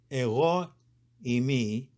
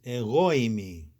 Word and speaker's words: εἰμί: This means when saying the word, you should think of it as being part of the previous word. You should say eimi, eimi. If you said eimi, that sounds wrong. It's eimi.